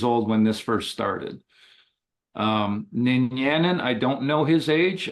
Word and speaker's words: Ninyanin: How do you pronounce it? Ninyanin. Ninyanin. Ninyanin.